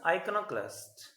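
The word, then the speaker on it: iconoclast: Next word is आइकोनोक्लास्ट। आइकोनोक्लास्ट, आइकोनोक्लास्ट, pronunciation पर ध्यान दिया आपने, आइकोनो, आइकोनोक्लास्ट, क्लास्ट, क्लास नहीं है क्लास्ट है, आइकोनोक्लास्ट। ओके, तो आइकोनोक्लास्ट में क्या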